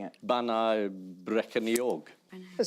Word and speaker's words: Bannau Brycheiniog: IAN: Bannau Brycheiniog. That sounds quite good. Let's cross to our Welsh correspondent. The correct pronunciation is Bannau Brycheiniog. Bannau Brycheiniog.